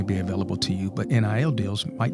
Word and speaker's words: NIL: entertainment attorney and um nil attorney is that the right way to say it are you it's not an niil attorney is it sort of we are yep you that's that's accurate okay that's accurate it